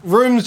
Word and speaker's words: RVMES: It's the Rooms, yeah? The Rooms. Rooms. It's spelled nice and funky, RVMES.